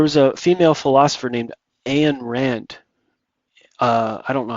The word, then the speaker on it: Ayn Rand: Uh there was a female philosopher named Anan Rand. Uh I don't know how I'm pronouncing this properly or not. An Rand.